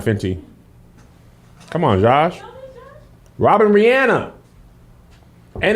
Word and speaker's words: Rihanna: robin first of all but it's re and then it's anna wait her legals robin robin brianna finchy come on josh robin rihanna and it's ariana grande